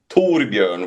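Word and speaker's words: Torbjörn: So my real name is Torbjorn which is like Thor bear the bear of the you know Thor the thunder god.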